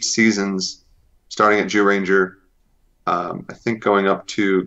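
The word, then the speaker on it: Zyuranger: I think they have 8 or 10 seasons out now, going back to Jew Ranger. Yes, it's spelled ZYU, but it's pronounced Jew, Joo.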